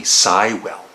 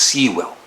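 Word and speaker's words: Seiwell: and wing's original drummer denny cywell and i used to think it was seawell and i was almost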